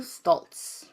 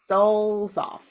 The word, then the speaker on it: Stolzoff: so I can, Simone Stoltz. So I think it's Simone Stoltz. Stolzoff. How Simone do you spell that?